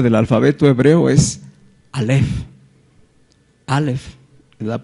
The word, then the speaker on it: alef: la primera letra del alfabeto hebreo es alef alef la pronunciación correcta que es el número uno y